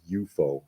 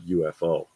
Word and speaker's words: UFO: the Jerry Anderson show, they pronounce it UFO on the show. It's not UFO.